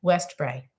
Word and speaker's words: Westbrae: And it's spelled Westbrae, West Bray. That's right.